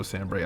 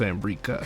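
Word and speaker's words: Sanbreque: But I didn't know Sambrick. I thought it was just Sambrika. Come on. But I have made a mistake mispronouncing it.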